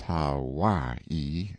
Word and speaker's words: Hawaii: off mounted on my Noble Steed Hawaii pronounced how y e stress on second syllable a beast that cost